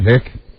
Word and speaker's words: hic: she's she's play acting h i c right hick EST EST yes I thought